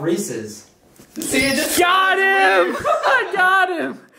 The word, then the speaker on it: Reese's: It's called Reese's.